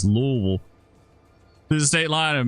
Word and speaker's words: Louisville: west of Louisville Louisville how you say it it's not Louisville it's Louisville to the state line